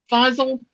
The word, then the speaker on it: Fazl: And, So and Fazl Sheikh how do you pronounce his name again? Fazl Sheikh, Okay.